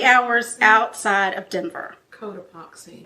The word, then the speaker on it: Cotopaxi: Cotopaxi. Population. Codoxapy. No. Cotopaxi. No.